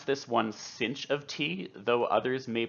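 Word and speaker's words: sinh: similarly we have a hyperbolic sine function i pronounce this one cinch of tea though others may pronounce it shine of t and this function is identical to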